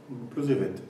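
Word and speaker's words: Plozévet: J'ai bien prononcé? Plozevet.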